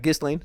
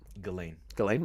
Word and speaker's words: Ghislaine: It's not Ghislaine. It's Ghislaine Maxwell. If you pronounce it Ghislaine, I'm gonna either think you don't know how to pronounce names or you listen to Alex Jones.